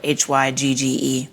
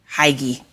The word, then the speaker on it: hygge: There's in Danish culture, this thing called hygge. It's spelled Hygge. Looks like hygie. Okay. But it's hygge.